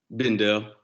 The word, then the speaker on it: Bendel: Bendel, is it Bendel? Is that how you say it, or did I say it wrong earlier? Bendel. Bendel. I thought I said it wrong.